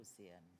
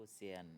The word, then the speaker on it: Océane: Bonjour, Océane. Ouh là là, on n'a jamais autant si bien prononcé mon prénom.